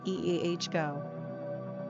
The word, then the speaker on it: Iago: Number of syllables, 3. Ranking popularity, not applicable. Pronunciation, Iago.